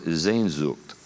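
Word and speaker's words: Sehnsucht: name for this longing was the german word zayn zugt this is another one of those things spelling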